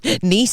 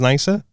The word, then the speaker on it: Nice: They were pronouncing it wrong. I was like, listen here, you fucking thick bastards. That's nice. Nice is Nice.